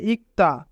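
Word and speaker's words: 읽다: উচ্চারণ হয় না তাই এখানে রিউলের উচ্চারণ হবে না এবং ক বাচ্চিমের পরে যদি দ্বিগু থাকে তবে দ্বিগুতের উচ্চারণ ত হয় তাই উচ্চারণ হবে ইক্তা ইক্তা অর্থ পড়া ছেগুল ইক্তা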